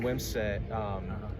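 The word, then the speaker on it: Wimsatt: For Rutgers, one player to watch is Weber's going to play quarterback, #1, but Gavin Wimsett, that's how you pronounce the name, correct? Wimsett, yeah.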